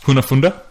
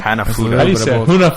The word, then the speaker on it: hanafuda: know Kuna funda sure that is not how you say you just completely butchered they were home funda I'd know if I was race history who fund that hanafuda funda that's it even what I should